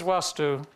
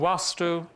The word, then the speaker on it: Vastu: Now, those of you that have come across it before, you'll see it written either as Vastu with a short A or Vastu with a long A.